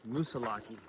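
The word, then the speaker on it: Moosilauke: I think it's actually pronounced Musilaki. Oh, with like a long e at the end.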